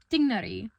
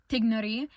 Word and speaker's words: Tighnari: So, when English readers are seeing the name Tignari, it's Tighnari. The GH sound in the English language would be Tainari.